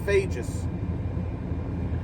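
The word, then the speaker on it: Fejes: Clare FaZe y'all um it's actually pronounced fages um pretty good hole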